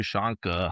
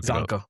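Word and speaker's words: Csonka: Larry Shanka. I hope I pronounced his name right. I always Sanka. Larry Sanka. I always say Shanka. But Sanka.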